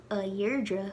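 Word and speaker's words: Dheirdre: irish and for example the name deirdre turns to ayrdra when you're addressing her well after the possessive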